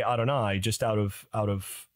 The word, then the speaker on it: Adonai: when I do audio books I trans I pronounce it Adonai okay so I will read Lord Adonai because